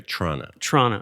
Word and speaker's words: Toronto: I think, yeah, that's how they say it there, Toronto. Yeah, they drop some of the letters.